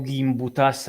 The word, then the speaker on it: Gimbutas: gimbutas io la chiamo gimbutas ma realtà a volte si chiama gimbutas gimbutas io la chiamo gimb per di norma nel mondo anglosassone pronuncia è quella poi la pronuncia litu Io non lo so è un'archeologa lituana